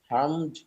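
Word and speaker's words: harmed: হার্ম, হার্মড, হার্মড, ক্ষতি করা। এখানে ডি আছে, টি এর উচ্চারণ হবে ডি, ডি এর উচ্চারণই হবে। হার্ম, হার্মড, হার্মড, ক্ষতি করা।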